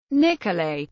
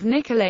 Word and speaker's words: Nicolet: The residents of the town pronounced the final T in Nicole.